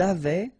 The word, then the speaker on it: avaient: Ils avaient, so look here, E, N, T, you write them, you don't pronounce them.